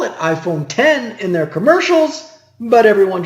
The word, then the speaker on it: iPhone X: Apple introduced iPhone X and they call it iPhone 10 in their commercials but everyone just calls it iPhone X Apple released the core operating system components of